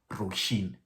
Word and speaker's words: Róisín: apparently means ocean and the other one is roshin you know that's how you pronounce um you pronounce it too and okay